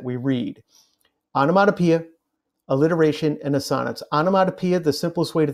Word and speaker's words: assonance: indeed I did yes the correct way to pronounce this last one is assonance your English teachers love to pronounce it as a sonnets but they do that